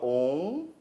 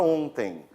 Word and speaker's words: ontem: Não esqueçam, EM no final de palavras pode ser um ditongo nasal.